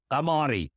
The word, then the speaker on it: Ghamari: It's the one and only Goldie Ghamari.